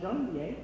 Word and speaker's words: Janvier: So let me just say it correctly, Janvier. And that is January in French, as the kids used to call me.